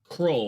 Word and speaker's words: Krull: Or how do you spell it? Krull, like Krull.